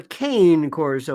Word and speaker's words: Cane Corso: say you have a a cone Corso or Cane Corso was it pronounced in this country and it has a